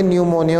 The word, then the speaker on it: न्यूमोनिया: आप देखो P silent रहेगा स्टूडेंट्स इसमें, पर न्यूमोनिया नहीं बोलेंगे, उसको बोलेंगे न्यूमोनिया।